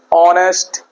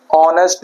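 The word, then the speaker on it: honest: जैसे यहां पे है ऑनेस्ट मैन। यहां पे एच साइलेंट है। स्टार्टिंग किससे होती है? अ से। ऑनेस्ट मैन।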